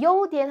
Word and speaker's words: 优点: 자, 밑에 있는 단어는 요디엔이라고 발음해요. 자, 여러분 이 뒤에 있는 디엔자는요. 나 너 이런 점이 좋아. 나는 너 이런 점이 싫어 할 때 그 점자거든요. 그래서 요디엔 하면은 우수한 점, 즉 장점입니다.